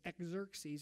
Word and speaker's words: Xerxes: Now, the most powerful king of that day was a king named Xerxes, spelled with an X, okay? So it's Xerxes, all right?